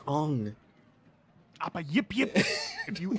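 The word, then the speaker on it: Aang: Ain, where have you been? Who? Ain, What? the Avatar. Where's Appa? Dude, it's pronounced Ong.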